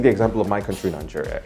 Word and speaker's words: Niger: at a map of Nigeria. It's literally right there. And that's why I guess, it's pretty common to see countries being named after rivers. Now, even though it's pronounced a little differently, Niger, one of Nigeria's